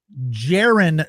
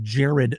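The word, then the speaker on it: Jarren: I always mispronounce his first name. It's Jiren Duran. I always want to call him Jared Duran, but Jiren Duran was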